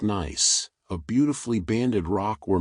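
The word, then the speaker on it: gneiss: And at the deepest levels, under the greatest pressure and heat, shist can transform into nice, pronounced nice, a beautifully banded rock where minerals have segregated into alternating light and dark layers.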